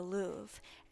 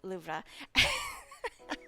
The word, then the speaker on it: Louvre: to pronounce it because people in America they call it the Louvre. Um but in French class when I was taking French, our French teacher was always like loura. So and I we actually went there to and I asked like a person working. I was like is it pronounced Louv or Loura? and she was like, "It's pronounced Lubra."